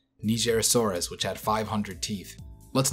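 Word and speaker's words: Nigersaurus: everyone this is how the dinosaur's name is pronounced nigerasaurus which had 500 Teeth Let's now move on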